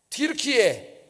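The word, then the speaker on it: Türkiye: 티르키예. 영어로는 뭐라 그래요? 터키라. 우리는 터키 영어식으로 이렇게 발음했는데 이 사람들은 티르키예라고 발음을 합니다.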